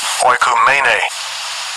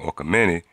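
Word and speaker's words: oikoumene: But when you look up the word world in this precept or in this context, Strong's G 3625, oikumene. Oikumene. Right, that's the pronunciation, oikumene.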